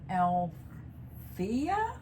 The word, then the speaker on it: Althea: We had Althea? I'm going to say Althea. I'm sorry if I'm not pronouncing it correctly. It's Althayah.